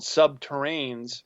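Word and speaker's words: subterrene: And they have these boring machines, it's called subterranes, rhymes with submarine, but they're nuclear powered, so they can literally vitrify the rock.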